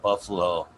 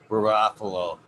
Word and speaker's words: Garofalo: Maybe it's in the way of pronunciation, but I thought there was an R in there.